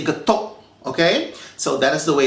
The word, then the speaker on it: Getuk: you to know that the K at the end of the word you should not pronounce that it is a silent K in the Indonesian language